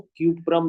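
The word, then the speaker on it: Cuprum: कपरम, क्यूप्रम कहते हैं इसको, क्यूप्रम इसका सही नाम होता है बच्चों, क्यूप्रम नाम होता है इसको। हाँ, कभी भी आप कपरम या कपड़ा अपना ना करिए।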